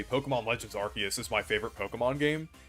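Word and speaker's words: Arceus: But let's move on to Legends Archus. This is another really good one. And yes, I pronounce it Archus. I just think like I just think it sounds better than Arus.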